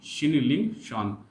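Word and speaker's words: Qinling Shan: शान है बाद में, शिनलिंग शान। यहाँ पर टी साइलेंट है तो क्या कहेंगे इसको? शिनलिंग शान।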